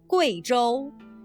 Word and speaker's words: Guizhou: In the name of this province and its capital, the U plus I is pronounced Wei, not we. Listen. Guizhou.